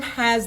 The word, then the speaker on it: ح: no doubt at all ha ha comes exactly from the middle of the throat this is a one of the most difficult letters for non-arabs to pronounce it's a scratchy sound of the letter you're bringing it from in to out and then out with the air you literally have to scratch your throat and then come out